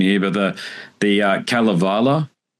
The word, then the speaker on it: Kalevala: in particular I'm probably going to butcher the pronunciation here but the the Calavala that's right I think this is the